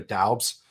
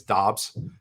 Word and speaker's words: Doubs: I always want to say Romeo Doubs, but apparently it's Dobbs, how you pronounce it. I've heard 3 different enunciations for it. So I think it is Dobbs. They threw the U in there just to confuse everyone.